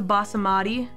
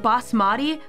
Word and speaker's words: basmati: You added a syllable to basamati. Oh, is it basmati?